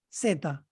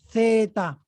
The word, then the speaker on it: zeta: is fine and then ceta even the zeta is writing with the c ceta in spain they will use the c theta theta but the letter c